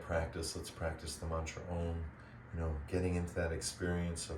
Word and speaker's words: Om: That feeling of 4 syllables, A-U-M, and then silence.